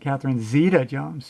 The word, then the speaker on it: Catherine Zeta-Jones: Some people pronounce it Catherine Zeta-Jones or Catherine Zeta-Jones, but I've heard her pronounce it Catherine Zeta-Jones. Yeah, interesting.